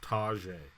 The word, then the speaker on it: Tyjae: Spelt Tyjae, but it's pronounced Tyjae.